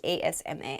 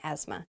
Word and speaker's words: asthma: how i have asthma asthma is spelled very weirdly there's a th in there but we do not say the th it's it sounds like asma asthma asthma is a respiratory condition